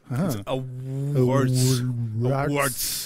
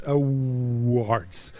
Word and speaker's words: Awwwards: Awwwwards. Awwwwards. And it's super easy to pronounce for me.